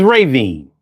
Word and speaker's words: Ravine: Yeah, it's spelled like Ravine, but it's Raven.